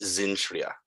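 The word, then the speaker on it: Cintra: they are just arriving at Zintria, the Elvish pronunciation of Sintra.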